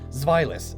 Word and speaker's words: Zweilous: Zweilous, it's German.